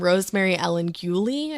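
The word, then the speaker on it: Rosemary Ellen Guiley: So, this woman named Rosemary Ellen Gulie, I believe is how you say it.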